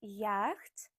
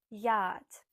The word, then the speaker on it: yacht: And the last one, number 7, is it yacht? No, it's yacht.